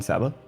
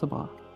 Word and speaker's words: Sabah: So you mean Sabbath? Yes. It's not. It's pronounced Sabah.